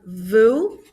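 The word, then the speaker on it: vous: new then we have vu same pronunciation just with a v and lastly they now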